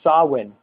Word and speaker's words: Samhain: Mabon we go into Samhain which I mentioned earlier is Halloween sometimes it's pronounced saw one and of all the